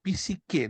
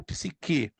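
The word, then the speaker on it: ψυχή: só para você entender tem alguns teólogos que usam a pronúncia psíquicar outros psique não está errado porque a forma grega Ela tem os dois formatos de pronúncia o psique e corpo a palavra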